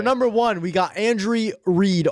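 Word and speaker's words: Reid: So, for number one, we got Andrew Reed, R. Say it right. Say it right. Andy Reed, R E I D.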